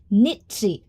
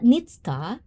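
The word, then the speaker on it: Nietzsche: It's pronounced nitsi. Oh, really? Nitsi, not nitska.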